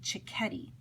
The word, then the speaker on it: Cecchetti: little dude here chickie remember in Italian I see as a Chuck and a CH as a cub so it's the opposite of English so you pronounce his name cicchetti he came from Italy